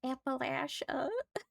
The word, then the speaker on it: Appalachia: I hear people pronounce it weirdly and I'm like, that's not how it's pronounced. It's Appalachia.